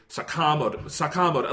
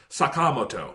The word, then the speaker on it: Sakamoto: I don't know what happened, but like they will say Sakamoto. Like I can't even say it. It's Sakamoto, you know?